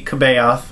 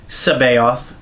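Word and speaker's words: C'baoth: haven't been watching online the annotations spell out how to pronounce the name who by English pronunciation conventions would be kabayov it's sabayoth so outbound flight is about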